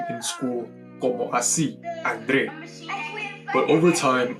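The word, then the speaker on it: André: in school como así Andre. But over time I stopped putting the accent on the e because everyone, incluyendo mis maestros, would always pronounce my name as Andre, Andre, Andre.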